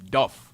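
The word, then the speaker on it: Dubh: Dub also is pronounced with a V or F. Duff.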